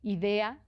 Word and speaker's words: Idea: Idea como qué buena idea, tal cual, así se escribe sin h, sin nada.